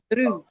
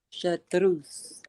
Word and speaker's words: chartreuse: So, Chartreuse. Chartreuse.